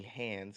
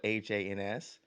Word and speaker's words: Hans: name is Hans and everyone calls me hands because it's spelled h-a-n-s and so my whole life I've been trying to tell people how to pronounce it Hans instead of hands and crayons and cray